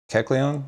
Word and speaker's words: Kecleon: This Kecleon, is that how you pronounce it, Trey?